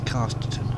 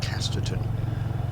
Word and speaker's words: Casterton: uh this road is Casterton. I say Casterton, but I imagine it should be pronounced Casterton. Because in the north uh A's are said with a short A, generally.